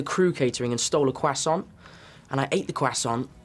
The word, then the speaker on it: croissant: Oh, Tom, we get that this French pastry is tough to pronounce, but of all the passable ways to say it, croissant is not one of them. Try it with us, croissant.